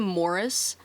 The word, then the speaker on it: Maurice: And it's also very clear that his uncle, he calls him Morris. It's spelled like Maurice. I'm going to say Maurice just because it's easier for me to say.